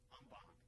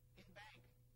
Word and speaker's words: en banc: Our extra word today is no, not Latin, but French, en banc. Or you'll also hear it said in bank.